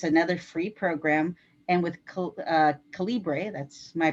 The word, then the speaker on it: calibre: And once that's done, I use another free program called Calibre or Caliber, one way or the other you publish it. It's actually a library program for books. It's another free program. And with Calibre, that's my pronunciation, I